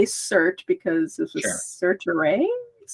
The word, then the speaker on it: certiorari: cert, because this was certiorari. Lots of people pronounce it different ways. I think it's certiorari. Certiorari is how I pronounce it.